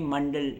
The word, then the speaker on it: मंडल: और अगर हम बुद्धिस्ट यानि बौद्ध धर्म की बात करें और अन्य परंपराओं में मंडल या मंडला जैसे आप प्रोनाउंस करते हैं।